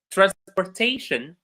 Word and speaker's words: transportation: For words in English that end in shin, like information, education, adaptation, uh, uh, manifestation, the stress goes on the syllable that is before shin. Information, we have shin, before it there is may, so may receives the stress. Education, k before shin, so k is stress. Transportation, there is tay before shin, so tay receives the stress.